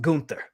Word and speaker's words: Gunther: she says uh besties it's pronounced gunther trust me i studied abroad in iceland cause when we saying